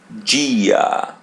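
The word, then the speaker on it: dia: Notice that when the letter I or E in Portuguese comes after the letter D or they in Portuguese, we pronounce it G. Gia G.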